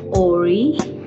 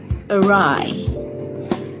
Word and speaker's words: awry: you say this word it's not Ori Ari but it's awry awry if something goes awry